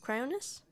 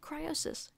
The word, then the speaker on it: Cryonis: Cryonis? I thought it was Cryosis. Cryosis sounds a lot cooler. I've been saying it wrong for 3 or 4 months now.